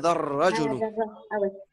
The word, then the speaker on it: الرجل: Il y a un alif lam, mais on ne le prononce pas quand il y a une shadda. Donc on dira هذا الرجل.